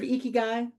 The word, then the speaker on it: 生き甲斐: So, have you heard of eeky? If you have not, that's exactly how it's pronounced.